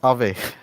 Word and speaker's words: Aave: it is it pronounced ave that's the first question i would like to ask yeah yeah yeah yeah exactly so it's uh ah so uh it comes from the finnish word uh ghost so that's why we